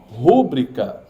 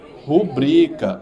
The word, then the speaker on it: rubrica: que eu pronuncio pronuncie rúbrica tá errado é como a pronúncia rubrica o mais forte é o bri Tá errado essa aqui